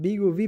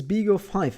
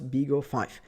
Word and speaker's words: BeagleV: uh video and actually i keep calling it big uv but actually it's big of five it's a major uh problem that i'm a pronunciation problem that i'm doing here so it's